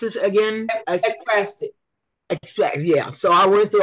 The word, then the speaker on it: ekphrastic: It's pronounce it again. Ekphrastic.